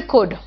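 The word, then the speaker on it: could: May, might, can, कुड, शुड, must, ought to, will, shell, वुड। देखो सब में L silent है, ध्यान रखना।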